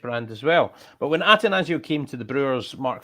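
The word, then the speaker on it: Attanasio: When Atanasio, by the way, what's the exact pronunciation, Ben? I believe it's just Atanasio.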